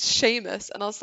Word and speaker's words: Seamus: something like that and i was like oh seamus said this and my mom's like who now that's like seamus it's pronounced sheamus and i was like you're barking it's that